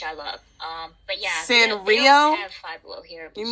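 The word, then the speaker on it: Sanrio: She keeps saying San Reno. It's San Rio.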